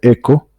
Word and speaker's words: echo: lenguaje que se llama se escribe así hecho se pronuncia eco que lo que voy